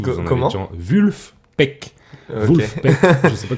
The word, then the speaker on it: Vulfpeck: Vulfpeck. Ok. Vulfpeck. Je sais pas comment ça se Peut-être prononce peux-tu en les anglais. player? Il y a un F, c'est pas un V.